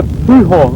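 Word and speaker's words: Pouhon: This one's called Le Pujon. That's my best version of a French pronunciation.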